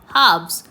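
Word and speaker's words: halves: हैव्स are never done right children pay attention हब्स here the एल is silent.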